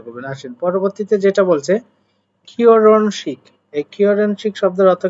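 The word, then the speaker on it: 결혼식: আসেন পরবর্তীতে যেটা বলছে কিওরনশিক।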